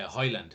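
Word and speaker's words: Højlund: work from there so hoyland okay Highland is how you pronounce it perfect Twigs is in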